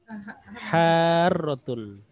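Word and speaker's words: حَارَّةٌ: Dipanjangkan dulu kemudian masuk tasdid. Ini kalau dalam Al-Qur'an ini kita sebut dengan mat apa namanya? Tajwid. Mat wajib mutasil. Bukan mat wajib mutasil. Munfasil ya Ustaz. Bukan. Jadi ada apa namanya? Ada mat ya, mat tabi'i bertemu dengan tasdid, namanya mat lazim musaqqal kil musaqqal atau musaqqal kil. Ya, 6.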